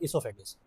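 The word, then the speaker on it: oesophagus: इसमें यह जो ओ है ना पहला लफ्ज आप इसको साइलेंट करेंगे। इसको नहीं प्रोनाउंस करेंगे। इससोफेगस इससोफेगस का ही दूसरा नाम होता है खुराक की नाली।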